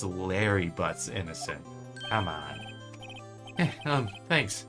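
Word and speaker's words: Larry Butz: was doing that congratulations Harry Harry yes you I can practically see the headline God damn it no it only rhymes with hairy butts it's Larry butts innocent come on um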